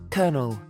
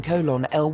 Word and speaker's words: colonel: someone else say them colonel i still find myself thinking colon l when i read it my cousin's name growing